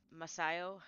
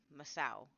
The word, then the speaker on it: Masao: This student's name was Masayo Hiroki. He Masao, I think is how I'm supposed to pronounce that.